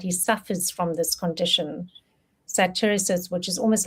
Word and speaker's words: satyriasis: Satiriasis, which is almost like a I don't even know if I'm saying it correctly.